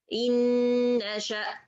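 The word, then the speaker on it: إن نشأ: I don't say in and then nasha. I say inna, inna, inna, in nasha.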